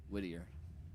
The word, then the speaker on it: Whittier: Whittier.